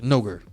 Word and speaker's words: Noger: Frank says no, it must rhyme with ogre. I mean, that's kind of how most people say it. It's like N ogre, Noger.